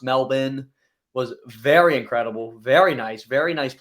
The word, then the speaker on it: Melbourne: Melbourne, aka actually pronounced Melbourne, was very incredible, very nice, very nice place to stay.